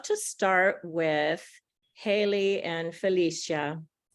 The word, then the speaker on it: Felicia: I want to say Felicia, which is a Spanish pronunciation, but it's Felicia, I think, in English. But right?